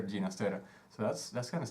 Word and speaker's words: Ginastera: father was caught alone that's his name genus data actually ginastera later and I mean in my country we say teenis Tara and I just found out that he'd prefer ginastera so that's that's kind